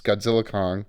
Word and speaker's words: Godzilla x Kong: Godzilla X Kong, you don't pronounce the X, it's Godzilla Kong, The New Empire, and Kung Fu Panda 4, both movies I've purchased for my children.